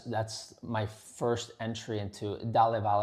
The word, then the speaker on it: Dalla Valle: That's that's my first entry into Dal Val it's called. That's how you pronounce it. Dalaval. Dalaval.